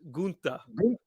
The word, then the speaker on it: Gunther: So the German pronunciation is Gunther.